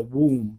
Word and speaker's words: womb: But it's a man with a womb, like WOB, womb, like a room, you know, womb.